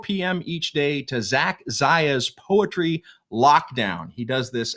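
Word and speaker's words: Czaia: His last name is spelled C-Z-A-I-A, Zach Zaya, Z-A-C-H-C-Z-A-I-A, Zach Zaya, the Poetry Lockdown.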